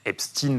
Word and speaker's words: Epstein: Voilà, Epstein, prononciation américaine puisque Jeffrey Epstein était américain.